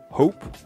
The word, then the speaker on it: AWP: le mot europe puisque nous en français on dit à woippy le awp on prononce à web mais il s'agit en fait de la prononciation up en anglais et je j'ai compris